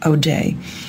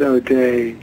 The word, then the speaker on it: O'Dea: A lot of Americans do pronounce it O'Day, but if you go to Ireland, they pronounce it O.D.